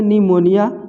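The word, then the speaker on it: pneumonia: यहाँ भी देखिए एन से पहले पी है तो पी को नहीं पढ़ना है, पी साइलेंट हो जाएगा, इसको सीधे पढ़ेंगे निमोनिया, निमोनिया माने निमोनिया होता है।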